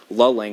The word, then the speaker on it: Luling: So we're looking at areas like Lulling around 1145, or Luling, I think it's pronounced.